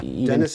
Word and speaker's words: Dennis: Dennis is supposed to be pronounced like Denny.